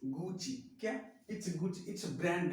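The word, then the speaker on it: Gucci: तो ये गुसी है या नहीं? इट्स नॉट अ गुसी, इट्स गुची।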